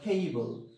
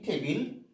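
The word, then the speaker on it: table: একটা প্রাণীর নাম বললাম টেবিল নট টেবিল টেবিল বি এল ই আমরা বলে থাকি টেবিল but correct pronunciation will be টেবল টেবল এরকম চেয়ার সি এইচ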